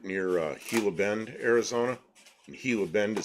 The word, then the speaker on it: Gila Bend: And Gila Bend is spelled Gila.